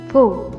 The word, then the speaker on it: pho: Nah, setelah tahu arti sebenarnya, kamu juga wajib tahu pengucapan yang benarnya adalah pho.